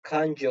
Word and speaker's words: kanji: J harfinin gibi Buna da en iyi örnek kanji olur kanji şeklinde yazılıyor ama kanji şeklinde okunuyor ha Siz buna J şeklinde telaffuz ederseniz